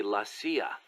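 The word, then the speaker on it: la CIA: around here they say lacia instead of CIA huh nothing strange about it that's how it's pronounced when you read it in Spanish it has the feminine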